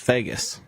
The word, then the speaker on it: Vegas: I believe it is pronounced Vegas.